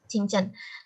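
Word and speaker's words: 清真: Benar ya Kak Yolan ya bacanya ya? Iya. Qingchen.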